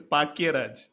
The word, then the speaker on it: Bhagyaraj: So bhag as you would expect is spelled bhagyaraj right which is which normal languages which have phonetic differentiation concept have this oh in Tamil it is paky raj so paky raj depending on your mood can be read out